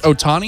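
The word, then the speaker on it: Ohtani: star hotel on how do you say it's Otani Otani I want to get it right and you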